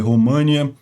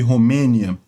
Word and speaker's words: Romênia: Eu peço desculpas, eu tenho a mania de ler os nomes em inglês e pronunciar eles como está em inglês, que é Moldova e România, mas não, em português é Moldávia e Romênia.